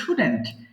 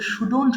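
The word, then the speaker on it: shouldn't: হ্যাঁ আমরা নেগেটিভ করবো শুডেন্ট এটা অনেকে ভুল করে সুডন্ট বলে এটা হবে সিম্পলি সুডেন্ট খুব ইজিলি উচ্চারণ করবেন আই শুডেন্ট রাইট আমার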